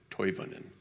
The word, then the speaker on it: Toivonen: It is Toivonen. With Finnish names, you pronounce every vowel, but so close.